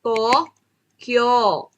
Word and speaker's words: Tokyo: long bowel ibig sabihin Hahabaan lang yung pronunciation kagaya nito Hindi niyo siya babasahin ng to u to ang basa to Kyo mahaba lang Tokyo Tokyo wa Tokyo yon then